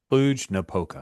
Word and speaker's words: Cluj-Napoca: Kluge Napoka. Okay. Cluj-Napoca. Kluge no polka.